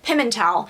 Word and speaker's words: Pimentel: pimentel or pimental but he pronounces it pimentel so the way i remember it is kiss and tell you wouldn't oh never